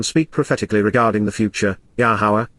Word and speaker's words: Yahowah: Nam to 391 speak prophetically regarding the future yahwah yahwah the proper pronunciation of yahwah based upon his Torah teaching